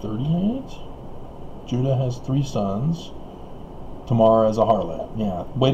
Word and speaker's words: Tamar: Tamar is a harlot.